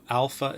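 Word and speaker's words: ἄλφα: So alpha is an A sound.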